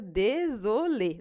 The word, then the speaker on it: désolé: É só a gente pronunciar E quando tiver acento agudo. Então, fica désolé, não tem mistério.